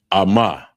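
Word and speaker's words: אמא: And the next one is mother, and it's pronounced Ama, Ama, and it's spelled AHMA, AHMA, and that's mother, Ama.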